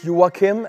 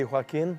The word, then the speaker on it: Joakim: My name is Joakim, as it's pronounced in Sweden. Over here will be Joakim, I guess.